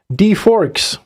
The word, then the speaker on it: D4XX: D4XX. D-forks. So D-forks.